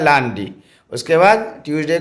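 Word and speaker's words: lundi: Thursday Friday Saturday Sunday L यू एन डी आई लांडी उसको Monday बोलते हैं English में और फ्रेंच में उच्चारण होता है लांडी उसके बाद ट्यूजडे को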